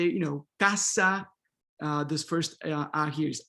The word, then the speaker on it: casa: But this final A here, which comes after this, the stress syllable, is not really A, right? We're not gonna say casa, a minha casa, right? But we're gonna say casa, casa, casa, casa, okay?